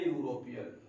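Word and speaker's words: European: अब यहाँ देखते हैं आर्टिकल यहाँ पर है एन यूरोपियन। अब यूरोपियन ए और एन का प्रयोग हमेशा कहाँ करते हैं, इसको मैं आपको एक सेकंड में बताता हूँ कि इसका जो प्रोनाउंसिएशन है वो यू है और कहाँ से ज्ञात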